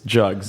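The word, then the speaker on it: GUGS: sorry um well it's jugs and it's not what you think it is it's the Georgetown University grilling Society but the first G is pronounced like Georgetown so JS um and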